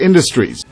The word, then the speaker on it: industries: Industries. Stress가 앞에 있죠. 그래서 in the. in 할 때 in을 강하게 해야 되죠.